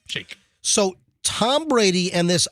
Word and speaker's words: Shayk: I thought I looked it up one time, and I thought like Shake. Shay with a K. Shake.